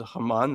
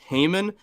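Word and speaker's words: Haman: if if we could go ahead and pronounce it Hammon, that would be great because pronouncing it Hmon makes me think of Paul Haymon.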